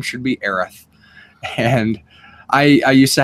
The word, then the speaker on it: Aerith: tell us all the time that it was aerith and that we were saying it wrong um